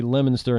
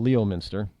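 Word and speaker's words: Leominster: do try to say lemonster instead of Leo Miner is what it is now last year in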